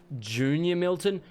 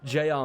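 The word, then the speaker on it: JR Milton: Oh, it's pronounced Junior Milton? Holy shit, that would make so much more sense. I am an idiot. Thank you, Junior Milton. Now it just feels weird. I've been calling you J.R.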